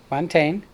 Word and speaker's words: Montaigne: Montaigne. I was supposed to remember champagne, so it goes with it, but Champagne.